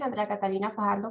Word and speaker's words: Andrea Catalina Fajardo: So yeah, my name is Andrea Catalina Fajardo, pronounced in Spanish.